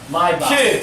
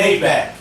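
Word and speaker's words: Maybach: think you pronouncing it wrong like how they pronounce what mybot myb it's a myb it's not a it's not a mayack it's a myb mayback music is it Nike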